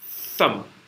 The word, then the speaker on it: thumb: You don't pronounce B. Thumb.